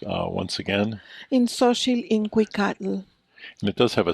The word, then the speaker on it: In xóchitl in cuícatl: Gabriella Gutiérrez y Muhs, the primary author of this new Chicano poetry anthology, which I will let her pronounce once again. In xóchitl, in cuícatl.